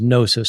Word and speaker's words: gnosis: The Greek word for knowledge is gnosis, spelled with a G.